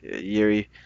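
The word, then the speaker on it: Jiří: It's Yuri Oh, Prohashka. okay, Yuri Prohashka.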